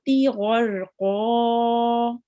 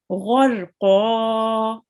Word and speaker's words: غرقا: So we will round our mouth a bit, and it will be pronounced a bit heavily. Okay. غرقا.